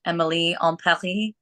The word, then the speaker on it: Emily in Paris: supposed to be pronounced Emily en Paris. That's me attempting a French accent, but I'm doing my best.